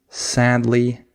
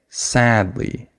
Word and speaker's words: sadly: would say that is I would stress the first syllable I would have emphasis on sad not on Lee I don't say sad L I say sadly right so I stress that